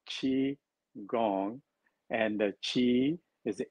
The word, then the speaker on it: qigong: is the g-o-n-g because people hear like they say is it qui gong or ki gong or qigong how do you pronounce it it's called chi gong and the chi is